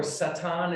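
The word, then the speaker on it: שטן: we're going to begin with say satan or satan is how you pronounce this in in hebrew and we can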